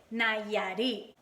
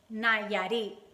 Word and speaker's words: Nayarit: It's kind of like Nayo Mama, but it's Nayarit. So Nayarit. I know you can pronounce it.